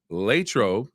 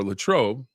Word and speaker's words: Latrobe: Jordan the native of latro as the natives say it like she does or Latrobe if uh you want to say it that way uh Steelers first preseason